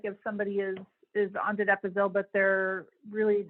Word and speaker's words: donepezil: Should Donna, how do you pronounce the drug? Donepezil?